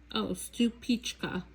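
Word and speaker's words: Stupice: And then stupefies tomato. And I think this might be a slicing tomato. I do have seeds for this. Oh, stupichka, that's how you pronounce it.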